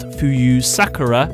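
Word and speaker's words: 浮幽さくら: pronounced Fuyu Sakura in the Japanese.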